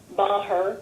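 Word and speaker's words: Meagher: my public comment okay uh I am M her my last name is spelled m e a g h e r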